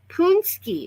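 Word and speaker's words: pączki: this because it's fun punsky is how you say that word punsky and it's a like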